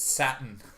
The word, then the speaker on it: Satan: There wasn't a Satan there a moment ago. wasn't a Satan. Yeah, you know a Satan. It's pronounced Satin.